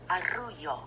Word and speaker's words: arrullo: And it's pronounced like this. Arrullo. Arrullo.